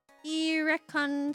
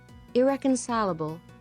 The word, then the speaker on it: irreconcilable: Irreconably irreconcilably. So in fact irrconably defined. Recon opposite of recon. Oh no. You uh you uh um so it is pronounced as pronunciation pronounced as irreconcilable frick.